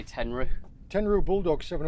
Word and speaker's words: Tenryu: thank you Well done, that's uh tell you what it's a whippy whippy rod How would you even say that? Tenryu? i pronounce it ten roo most people seem to say tenrou Tenryu bulldogs seven o